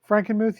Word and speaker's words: Frankenmuth: Am I pronouncing that properly? Frankenmuth, yes.